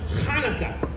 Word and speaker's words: Hanukkah: Actually, Telly, it's pronounced Hanukkah. You know, with more of a ha. Huh, like that? No, more in the back of the throat.